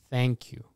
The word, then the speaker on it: thank you: to pronounce this is thank you so you need to have a th and the best way